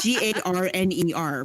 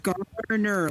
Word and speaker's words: Garner: Gardner oh is he I don't know why I'm not meaning to put a D in his last name um but every time I can't say his name without a d slipping in there it's g a r n e r right yes Garner like Garner yeah Rockford The Rockford